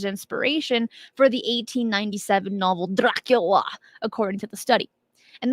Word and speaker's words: Dracula: for the 1897 novel Dracula according to the study and that is the only way you can say Dracula is just like that if you say it any other way you're saying it wrong and now and I